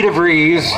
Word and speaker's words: DeVries: With the help of trusty treasurer Vicky DeVries, rhymes with cheese, Dave reached out to